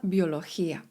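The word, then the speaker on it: biología: La universitat uniwersytet la akademia akademia la edukacjon edukacja la biolochia biologia. Gdy obok litery G jest litera I lub E, wymawiamy to jako he.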